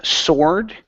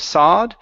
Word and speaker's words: sword: have the word um sword okay give me an R there at the end instead of sod sword sword sword good job